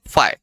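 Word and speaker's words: φ: का इसका उच्चारण है फाई.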